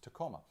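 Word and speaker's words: Tecoma: It's actually, the genus is Tacoma, which actually, it's spelled a little bit differently than our Tacoma, Washington, but it's still pronounced Tacoma.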